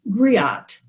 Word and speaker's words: griot: right now which is griot it's spelled g-r-i-o-t-e and that's a french term for an ancient west african tradition of oral history and the term griot are the female oral historians